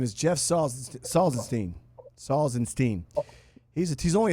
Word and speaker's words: Salzenstein: introduce me they don't get it right it's salzenstein Sal actually that's correct salzenstein salstein and when I played when I